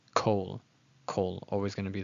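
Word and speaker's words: כל: And then, as I mentioned, in the word kol, if you see this, you might think it's kal, but it's not. It's kol.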